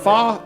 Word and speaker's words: pho: Fa is that's how you pronounce it. PHO is pronounced fa.